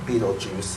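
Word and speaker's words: Betelgeuse: u g e u s e yeah but Bal geese but finally it's pronounced Beetle Juice uh like for real um and uh for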